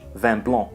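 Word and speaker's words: vin blanc: Vino biano in French van blon here the final C is silent so the last sound we hear is the nasal sound represented by n van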